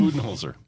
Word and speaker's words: Budenholzer: So what to make of the Budenholzer? How do you pronounce his name? Budenholzer.